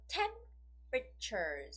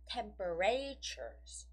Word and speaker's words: temperatures: have the right stress temperatures once again temperatures it goes on the first syllable right yeah so 10 pictures is the right way of saying it it's not temperatures yeah that's wrong yeah the rest comes very